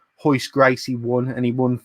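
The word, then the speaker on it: Royce Gracie: By the way, if you're looking up Hoist Gracie, it's spelled Royce.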